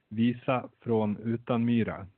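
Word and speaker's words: Visa från Utanmyra: But the Swedish pronunciation is Visa från Utenmyra. Utenmyra. Oh, I got to do the ooh.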